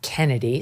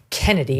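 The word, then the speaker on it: Chennedy: you pronounce the name even though it's spelled ch ch you just pronounced it Kennedy so my apologies to her Kennedy do do we have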